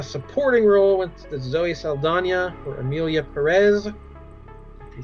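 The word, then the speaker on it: Saldaña: It has always been Zoe Saldana, is all I've ever heard for 20 years. And now this year it's Saldana. It's got the little tilde over the end.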